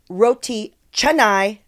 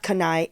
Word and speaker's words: roti canai: Now I know it's roti canai, not kanai, and kangkung Bella Chan, not Bella Khan.